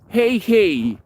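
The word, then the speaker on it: hej: say here hello hello hey hey you have to say it twice it's spelled in English H E J and then you have to say it twice hey uh or Shena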